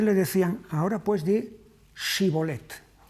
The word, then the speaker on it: Shibolet: Hay una diferencia en la pronunciación, Shibolet y Sibolet. Hay algunos idiomas, el inglés entre otros, en los que tienen esta diferencia entre shi y s.